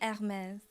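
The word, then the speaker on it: Hermès: Guys, I do speak French, so it's actually Hermes. If you really Yeah. want me to say it properly.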